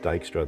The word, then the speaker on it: Dijkstra: shortest path one so dykstra is just a different name dijkstra well it's pronounced dijkstra the j is kind of silent i think it's a